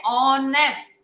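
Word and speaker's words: honest: अगर vowel word से start है, एच भी है, ऑनेस्ट और एच से स्टार्ट है, मगर उसके अंदर किसका वर्ड आ गया, ओ का आ गया, तो हमने उसको ओ से स्टार्ट किया.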